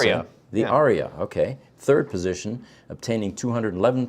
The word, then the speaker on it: Ariya: And then the Nissan Ariya, I'm not sure how to pronounce Ariya. it. The Ariya, okay.